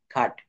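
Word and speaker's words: cut: হবে এন ইউ টি নাট সি ইউ টি খাট অর্থাৎ consonant plus you plus consonant প্রথমে কনসোনেন্ট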